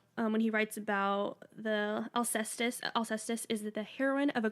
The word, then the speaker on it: Alcestis: Greek lettering, one word, Alcestis. Does that sound right? Alcestis? I can't do. That is, yeah, that's how they say it.